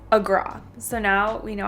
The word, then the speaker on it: Agra: So on the train ride here, a local told us that it's not Agra, it's Agra.